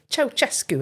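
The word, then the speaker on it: Ceaușescu: Um, how are you pronouncing that? Chaosescu. Oh, is that right? Yeah. Okay. I'm not sure that that was a popular pronunciation in the UK, was it not? Choescu, I think we would have choes. Yeah, maybe. Maybe that's just Bolton. I don't know.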